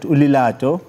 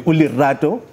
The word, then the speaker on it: Lerato: seek advice and today we have a quiet ulilato as we'll say i'm trying no we don't say that zulu people don't say that we do pronounce it probably ulerado the expertise as we dive into our pin